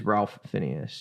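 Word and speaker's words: Ralph Fiennes: And so it is one that you have to, it is Ralph Phineas. Yeah, okay, cool. Something like that. I'll have to look up his pronunciation.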